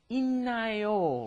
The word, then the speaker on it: 있나요: Normally you think 있다, it's like a D, right? But then when you combine a D plus an N, it turns into 있나요, right?